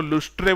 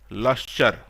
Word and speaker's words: lustre: केमती लिखा है देख स्पेलिंग LUSTRE, किंतु सेटा को लुस्ट्रे बोली पढ़िबनी। तार ठीक प्रोनाउंसिएशन होची मेटालिक लस्चर।